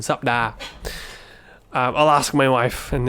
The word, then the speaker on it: สัปดาห์: Most people I've heard just say 2 syllables. สัปดาห์ but I don't think it's incorrect. It's probably actually more correct technically, phonetically, if you were to say สัปดาห์ I might be wrong there, but anyway, just go with the 2 syllable version.